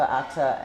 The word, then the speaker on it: Atta: And Atta has been in here for, is it how you say it? Atta? Atta.